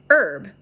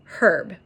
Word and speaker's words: herb: "Don't pronounce the H."